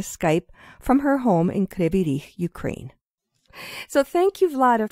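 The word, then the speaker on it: Кривий Ріг: Kryvyi Rih, it's in Ukrainian, and in Russian, it's Kryvyi Rog.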